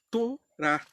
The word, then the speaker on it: Torá: Especificamente a palavra que está no original aqui é Torá. Assim que se pronuncia mesmo.